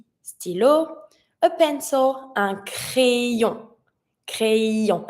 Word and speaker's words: crayon: A pencil, un crayon, crayon. And I need to hear the y, crayon.